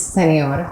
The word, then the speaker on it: Senior: Is it Senior? Say it correctly for me. Wow. It depends, but it's Senor.